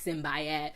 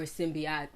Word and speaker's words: Simbiat: People be like Simbayat, Simbati, Simbate. Like, it's just Simbi or Simbiat if you know how to say it right.